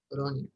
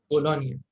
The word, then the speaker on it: Bologna: Okay, Bologna. In Italian بالنسبة للغة الإيطالية عادة لما نلقوا التركيبة هذه GNA عادة النطق نيا زي لازانيا.